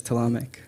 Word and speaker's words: Talamak: The official pronunciation is Talamak. Talamak?